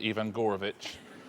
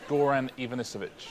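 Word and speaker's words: Goran Ivanović: mysterious case of Ian Ian gorovich you got you did get all the right syllables just not necessarily in the right order uh he's called Goran Ivanovich well Richard what other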